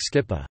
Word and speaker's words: skipą: For instance, Proto-Germanic asterisk skipa, hollow object, water-borne vessel larger than a boat, was pronounced ski p.